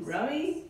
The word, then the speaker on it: Rumi: Rummy? Rumi, yeah.